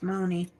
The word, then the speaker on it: Moni: I used to have to tell people how to pronounce Moni because, they see it's part of Monica and they think it's Mon or something. But although when you keep the I off, it's Mon, but you have the I, it's Moni. And some people don't know